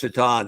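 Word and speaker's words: Miroslav Šatan: I tried to make a Miroslav Shatan figure when I was at McFarland for years. Winger for the Buffalo Sabres. Pretty good player whose last name was spelled Satan. Yeah. Pronounced Shatan.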